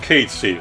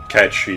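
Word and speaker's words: Cait Sith: inconsequential little furball called Casey, or, Catchy if you want. Square officially goes for the first pronunciation, but it's worth noting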